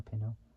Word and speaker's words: Pino: which is spelled or Pino spelled p i n o it's like saying Pinto by taking out the te from Games Radar also